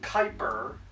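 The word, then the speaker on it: Kuiper: not that hospitable the Kyper belt and yes it's pronounced Kyper it's pronounced like you say viper but with a K with like a k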